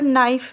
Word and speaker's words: knife: जैसे अंग्रेजी भाषा में अगर नाइफ़ है, नाइफ़ को हम लिखते कैसे हैं? कनाइफ, KNIFE, लेकिन इसको हम बोलते कैसे हैं? नाइफ। उसको उसमें के साइलेंट होता है, लेकिन उसमें के की आवाज़ बिल्कुल भी नहीं आती, जबकि के का लिखने